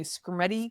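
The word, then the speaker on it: Skrmetti: The Supreme Court in the Screamy case, is that how you say it?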